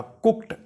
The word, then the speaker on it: cooked: इस सेंटेंस में जो COOKED है, इसमें लिखने में एंड पे डी आता है, लेकिन पढ़ने में टी आएगा। कुक्ड, कुक्ड इसका प्रोनाउंसिएशन होगा।